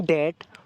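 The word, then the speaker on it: debt: कि आई एम इन डेट to someone for $100 तो यहां पर बी साइलेंट होगा आई एम इन डेट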